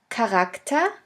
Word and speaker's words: Charakter: In the third case, the CH can also be pronounced like a K if it is at the beginning of a word. Here we have the example of the word Charakter, which means character.